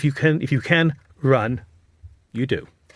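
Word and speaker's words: 润: Well, the uh interesting enough there's a Chinese character that is pronounced run, which doesn't mean run, but it sounds exactly like the English word run, which is talking about the idea that yes, we should leave China.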